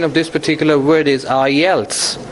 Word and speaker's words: IELTS: system I told you the other day the pronunciation of this particular word is I Els not ilets this is I else else I else if